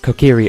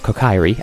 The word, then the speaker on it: Kokiri: self-proclaimed boss of the Kokiri as Mido rather than Mido, because as a child I didn't know that Japanese was a thing. Well, I kind of did. I mispronounced Kokiri as Kokairi, and so if I lapse